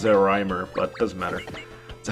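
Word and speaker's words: Zeorymer: well, not Great Zeromer, Zeromer. Although I think his name is actually pronounced Zerimer, but it doesn't matter.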